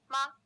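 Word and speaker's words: 吗: in a later lesson the neutral tone is short without a full tone contour and is pronounced more softly than words with full tones also in pinyin the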